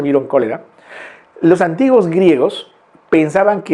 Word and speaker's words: Vibrio cholerae: por una bacteria Vibrio, se escribe cholerae, ¿no? Vibrio cholerae, se pronuncia vibrio cólera.